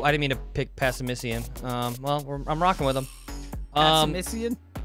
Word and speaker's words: Passimian: Oh, I didn't mean to pick Passimician. I'm rocking with him. Passimician? Simeon? How do you say this Miss thing? Passimian.